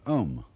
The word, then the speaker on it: om: mantras is of course the sound om that sound is used because if you spell it out a u m it runs from the back of your throat to your lips and therefore it contains the whole range of The Voice and for that reason